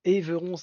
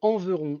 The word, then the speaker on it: Enveron: D'ailleurs, c'est pas Éveron, il y a un n un e n enveron.